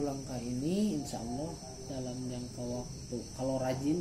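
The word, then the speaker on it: الله: tebalnya bacaan yang pertama lafadz Allah Kalau depannya fathah atau domba aku itu harus tebal Allah Allah kalau tipis di depannya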